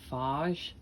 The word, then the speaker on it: phage: important specific viruses called bacteriophages or phages some people pronounce that faj these attack bacteria now